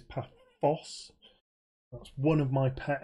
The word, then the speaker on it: Paphos: And yes, it is an F. Not a TH, so it is Paphos.